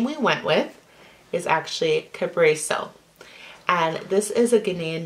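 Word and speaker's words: Kabreso: The name we went with is actually Cabreso.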